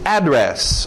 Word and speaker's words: address: Address, ou address também. Duas pronúncias aí para o seu endereço.